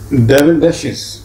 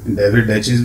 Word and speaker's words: David Daiches: डेविडेशिस, ये बेटा दोनों तरह से प्रोनाउंस होता है, डेविडेशिस भी और डेविडेचिस भी, दोनों तरह से ठीक है।